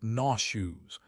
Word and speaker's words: nauseous: If you feel like you are going to vomit, you say, "I feel nauseous." Pronounced nauseu.